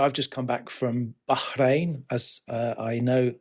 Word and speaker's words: Bahrain: So I've just come back from Bahrain, as I know it's meant to be pronounced.